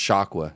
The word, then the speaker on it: Shakwa: It's pronounced Shakwa and spelled the same way.